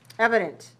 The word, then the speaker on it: evident: it's evident that mr goodman is better health than mr notwell evident so e-v-i-d-e-n-t how many syllables evident three right where's the stress one three one evidence evident